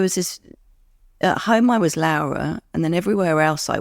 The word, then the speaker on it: Laura: that's the other thing my name is Laura if you're English and it is spelled the same way of as as my actual name which is laara which is the Italian way of saying Laura so from the moment